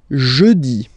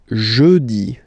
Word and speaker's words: jeudi: Okay, next one, jeudi. Jeudi. Remember, when you combine this E-U, you get the sound E. Jeudi. Jeudi. So I insist a little bit, so make it softer.